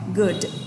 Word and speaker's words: good: Âm này là chữ U ngắn ạ. Với rất nhiều người đọc từ này là good ạ, thì cô nói luôn từ này chỉ đọc là good thôi ạ.